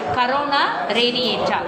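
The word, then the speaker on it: corona radiata: மற்றும் வெளிப்புறம் தடித்த கரோனா, இதை நீ கொரோனான்னு கூட ப்ரொனவுன்ஸ் பண்ண வேணாம், எப்படி ப்ரொனவுன்ஸ் பண்ணிக்க, கரோனா ரேடியேட்டா, கரோனா ரேடியேட்டாவாலையும் சூழப்பட்டிருக்கு.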